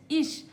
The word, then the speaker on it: ich: ईश मतलब मैं और इसका स्पेलिंग देखिए आई सी एच। ईश। अब इसको ई क्यों प्रोनाउंस कर रहे हैं? ये मैंने पिछले वीडियो में बताया है। लेकिन एक बार फिर से बता दे रही हूं। यहां सी एच के पहले आई है। तो इसीलिए ये श हो गया।